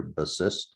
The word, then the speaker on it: Bassist: Here it is, Bassist, which in Hungarian is pronounced the same way we pronounce it here, Bassist.